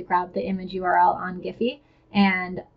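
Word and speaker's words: Giphy: it's actually pretty simple I like to get my gifts from giffy and yeah I realized jiffy is probably how it's supposed to be pronounced but anyway I like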